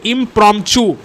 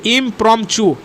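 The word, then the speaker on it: impromptu: এটার উচ্চারণ হচ্ছে অ্যাকচুয়ালি ইমপ্রম্পচু, TUHU উচ্চারণ হয়, ঠিক আছে, ইমপ্রম্পচু। তো ইমপ্রম্পচু মানেও হচ্ছে a speech delivered without previous preparation.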